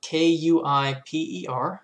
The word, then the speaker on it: Kuiper: not very dutch but that's sort of the general way that astronomers pronounce it the kuiper belt is